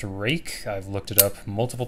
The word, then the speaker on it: RUIKE: This is by a company called RUIKE, and it is pronounced RUIKE. I've looked it up multiple times. I went to their website. It is pronounced RUIKE.